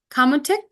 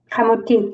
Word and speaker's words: kamutik: And then she also has these other 2 beautiful books, Making a Kamutik. Did I pronounce that right? Yeah. Okay. Kamutik. You want to say it one more time? Kamutik, making a kamutik.